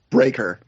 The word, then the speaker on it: Breaker: heard read the name is it pronounced brecker or breaker breaker bond breaker so so if he